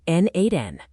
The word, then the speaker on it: n8n: Pronounced N8N.